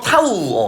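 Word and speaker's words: τ: 그 돌림의 크기 요거 뭐라고 읽는다 했어? 어 타우. 어 타우라고 읽습니다. 대충 요런 식으로 써. 어 타우 그리스 짜고요.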